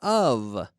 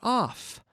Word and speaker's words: of: In favor of. Okay? 1 F. Of. Not off, but of. When we have 1 F, we say of, and it's pronounced like a V, which is an F, which is voiced.